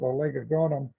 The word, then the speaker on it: Oligogonum: The first subgenus on the left, subgenus Oligogonum. Some people like to pronounce it Oligogonum, so it's however you please.